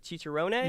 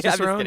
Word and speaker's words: Cicerone: - Certified, am I saying this right, "cheecheronay?" - You get, every time, you get even so much closer, Cicerone, you got it, you're crushing it.